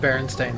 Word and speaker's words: Berenstain: with common spellings yeah so you hear the name and you think e because most people pronounce it that way and you don't really look too hard at the name yeah I think it's supposed to be pronounced Berenstain i yeah the fruit of